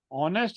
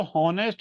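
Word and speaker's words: honest: जैसे वो बोलते हैं होम पर जब वो ऑनेस्ट लिखते हैं फिर वो होनेस्ट नहीं बोलते। एच को साइलेंट कर लेते हैं।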